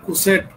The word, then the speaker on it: coset: সেটটাকে বলব আমরা right কোসেট অফ এস উচ্চারণটা হবে right কোসে অফ এস ইন দা